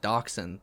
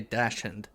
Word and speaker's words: dachshund: found out recently that in australia they don't pronounce it dachshund they say dashand um like how it's written yeah that's funny and